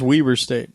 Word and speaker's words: Weber State: it's pronounced Weber State. It is Weber State, which was fun.